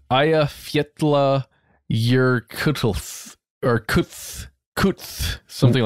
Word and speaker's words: Eyjafjallajökull: The 2010 volcano is, I think, pronounced Eyjafjallajökull.